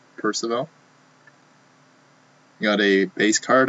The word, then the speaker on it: Percival: first of all oh is that is it's pronounced percival percival you got a base card of marcel dion